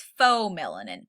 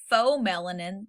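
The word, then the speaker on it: pheomelanin: There's eumelanin, that's spelled EU melanin, and there's faux melanin, PHEO melanin. Got to spell them crazy.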